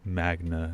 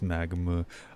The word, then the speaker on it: Magma: said my name wrong it's not mag Magna it's magma a typo I teas